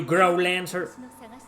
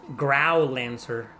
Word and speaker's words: Growlanser: Some people pronounce it as grow lancer. Growl lancer. I see grow as in grow as in the b the verb grow growing. Grow lancer. Right. That's what I do.